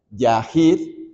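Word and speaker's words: יחיד: David En este salmo es una palabra hebrea se se pronuncia Yahir y significa desamparado Solitario se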